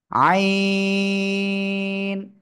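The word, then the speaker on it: ع: এই যে চলে গেল আইন চার আলিফ টান গলাটা চেপে কোন বাতাস বের হবে হবে না আইন সবাই জোরে জোরে পড়েন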